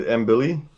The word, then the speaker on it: Mbilli: So the the the fight that I see the the Mohamad kid, I can't remember how to pronounce his last name. Muhammad Embilly.